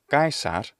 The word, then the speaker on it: Caesar: a ra sound therefore if you take the name of kaisar from latin none of those sounds are in the standard varieties of english thus all you do is end up completely changing it anyway to kaisar and it's just not